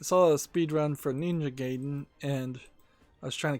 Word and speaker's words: Ninja Gaiden: which yeah i saw a speed run for ninja gaiden and i was trying to compare that in